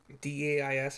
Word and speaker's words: dais: A deep alcove in the south wall contains a dais, D-A-I-S if I'm pronouncing that wrong. I think it's dais, whatever.